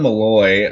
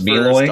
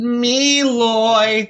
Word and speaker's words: Meloy: Then we have Colin Malloy of the Decemberists. I should say his... Oh, it's Meloy? Off, yeah. So let me say it. Colin Meloy. That's how you're supposed to pronounce his name, right?